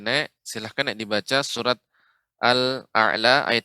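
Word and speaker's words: أعلى: Ya, Sabbihisma rabbikal a'la. a'la. Alif dulu Ibu Nek. Alif ya hamzah baru ain. A'la, a'la. Demikian. Sabbihisma rabbikal a'la. Ya, ainnya lebih lembut lagi Ibu.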